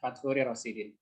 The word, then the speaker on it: Fatchuri Rosidin: Bang Fat ini nama lengkapnya adalah bacanya gimana nih? Faturi Rosidin. Benar ya Bang? Ya, Fathuri Rosidin.